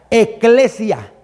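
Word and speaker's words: ἐκκλησία: Ec, de hecho, en el griego se se pronuncia eclesia.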